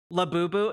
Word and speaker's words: Labubu: Labubu.